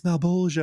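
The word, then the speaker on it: Malebolgia: And I was like, how do you pronounce Malbolgia? She's like, it's Malbolgia.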